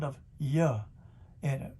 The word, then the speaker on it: Yah: Before they changed his name had the name Yah in it, spelled I-A-H, which would be J-A-H, pronounced Yah.